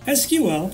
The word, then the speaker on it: SQL: SQL, pronounced SQL, stands for Structured Query Language.